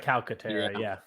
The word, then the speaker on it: Calcaterra: I like Grant Calcaterra. You pronounce the C, or is it soft? Calca, right? Calcaterra, yeah.